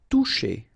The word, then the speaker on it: toucher: So remember that we've got this accent circonflexe on the top of I, but then phonetically we don't pronounce it, so we get disparaître, disparaître. Battre. Toucher.